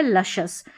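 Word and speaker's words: luscious: यहां पर हमने एस सी को श पढ़ा है। क्योंकि एस के बाद में अगर वोवेल डबल वोवेल आ जाए जैसे आई ए आई ई आई ओ मिनिमम स्पेलिंग्स है तो वहां पर हम क्या करते हैं? एस को श पढ़ते हैं।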